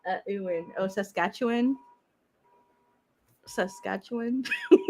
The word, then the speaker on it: Saskatchewan: back my bunny man yeah you use this sasquitcha i did not say that i said saskatchewan a skeleton wine i don't know what you